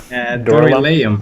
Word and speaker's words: Dorylaeum: How would you pronounce that? Doral? Dorylaeum, I think.